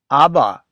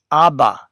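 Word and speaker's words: אבא: And then you have the B consonant with the A vowel and you end up with abba because of course the last letter alf is silent. Aba, father.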